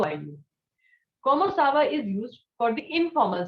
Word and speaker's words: comment ça va: It is comment ça va? What is it? Comment ça va? Repeat after me. Comment ça va? Très bien. So comment ça va means how are you? Comment ça va is used for the informal situation.